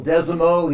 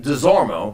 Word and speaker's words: Desormeaux: So the R is silent in your name. Yeah. And your distant relative is Kent Desormeaux. Correct. Who is the famous jockey from this area, but we pronounce it Desormeaux. Yeah, the only people I know that say Desormeaux are from New Iberia, so it's a whole thing, But yeah, I